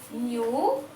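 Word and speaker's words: knew: Here in the first word K-N-E-W, new, I have underlined K.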